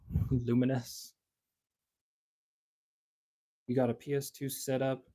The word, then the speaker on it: Lumines: Most mispronounced game in the world. Lumines. Luminous.